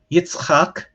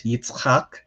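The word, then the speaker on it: יצחק: and then you have yitzhak this is one of my favorite hebrew names to pronounce itzhak we don't ever combine those consonantal combinations in english because it sounds weird to us which is why in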